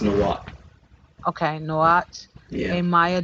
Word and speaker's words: Nahuatl: It's pronounced Nahuatl.